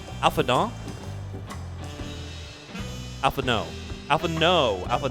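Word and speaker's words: Alphinaud: The trick to the Ellison is you have to do the French thing where you leave off the last consonant. And then you don't have to pronounce as much. So it's kind of like a shortcut.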